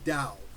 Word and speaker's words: Tao: It's spelled Tao, but it's pronounced Tao.